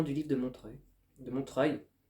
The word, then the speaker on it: Montreuil: livre de Montreuil de Montreuil chaque fois j'insiste pas sur la dernière syllabe et les gens pensent que je dis Montreux donc le 3 et